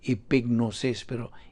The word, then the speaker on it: epignosis: OS is muginami deseo pronounced epignosis / AP gnosis silent G can an oppressor both